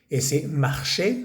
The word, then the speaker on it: marchaient: prolongado en el pasado entonces mar que se escribe marchent s a i e n t al final se dice e mar y estamos aquí